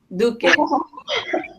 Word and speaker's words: Duque: Dookie? Duque. Like Duke. But Duque is like Duke. Like the royalty. A Duke. They're like the Duke of Earl.